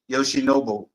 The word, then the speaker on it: Yoshinobu: It's actually Yoshinobu.